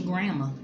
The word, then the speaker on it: grandma: This your grandma. Your grandma, not your grandmother, not your grandma. This your grandma. Without the D. The D in that thing is silent.